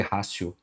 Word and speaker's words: ratio: chamado útima racio mas quando você vê escrito é ratio que se escreve né se escreve com T mas se lê rácio então o putativo aqui